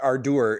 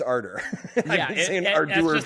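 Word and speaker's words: Ardour: learned from him that it's not Ardur, it's Aror British spelling with you.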